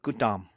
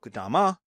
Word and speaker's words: Gautama: So Buddhism starts with a philosopher prince, Siddhartha Gautama. Even though it's spelled Gautama, I've had Indian students tell me it's Gautama.